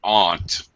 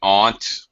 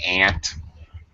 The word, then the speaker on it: aunt: you T told a little story about your aunt okay okay in English it it's I forgot how you pronounced it but it should be Aunt sometimes you hear American say Aunt really it should be Aunt um and the